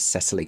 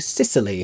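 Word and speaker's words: Cecily: Her name is Cesily Cardu. At least that's how I pronounce it. They insisted on saying Sicily throughout this production, not unlike the Mediterranean island, which I did find a little baffling.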